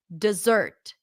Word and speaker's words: dessert: not the primary stress here the primary stress is on the zert it often changes to awah reduces to awah which is a neutral unstressed vowel sound uh uh uh d d d dessert the second syllable has the r as and stir sound so it's kind of like a stressed chah with an R all together kind of like cooked together mixed together dessert I had ice cream